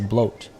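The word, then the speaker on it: Blót: pop up over here blot is pronounced as bloat learn something new everyday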